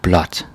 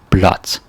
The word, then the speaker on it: blåt: So you say blot. And yeah, the pronunciation changes from blå to blah, and like blah. That sounds funny, but it becomes blot.